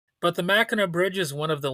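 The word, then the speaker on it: Mackinac: I know it's spelled M A C K I N A C, but you pronounce it like Mina, or at least that's how I've only ever heard it pronounced. But the Machina Bridge is one of the longest suspension bridges in the world.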